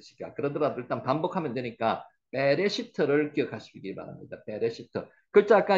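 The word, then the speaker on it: בראשית: 그러더라도 일단 반복하면 되니까 베레 시트를 기억하시기 바랍니다 베레시트 글자 아까 이야기 드렸죠 점이 두 개 있으면은 에라고 읽는다 그랬죠 그래서 빼라고 했습니다 빼라고 읽었는 거는 여기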